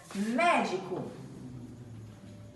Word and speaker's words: médico: fechado acento circunflexo e por último médico o médico a sílaba tônica é mé e tenho só aberto com acento agudo médico pronto e agora em